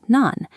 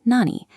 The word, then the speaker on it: 何: Sometimes it's pronounced nan, and other times it's pronounced nani.